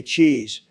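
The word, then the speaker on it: cheaze: comes from the user c h e a z e or should I say cheese all right all right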